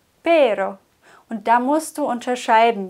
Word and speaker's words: pero: Rollen el perro perro mit einem R rollen wir viel sanfter pero pero perro pero und da musst du